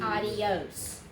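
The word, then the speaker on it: adiós: not okay make make make it only two syllables please don't make it a three syllable word it is not adios okay it's not adios it is two syllables ah yokes yes hi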